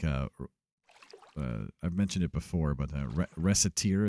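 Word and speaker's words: Recettear: Like, I've mentioned it before, but Reciteer is how I pronounce it. You can also pronounce it Reciteer.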